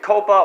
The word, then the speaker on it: COPPA: has to do with Coppa or Coppa how it's pronounced Co PPA and the FTC and